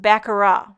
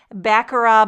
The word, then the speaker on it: Baccarat: I believe it's pronounced Baccarat. Baccarat Background. Now, I would say Baccarat, but I think it's Baccarat.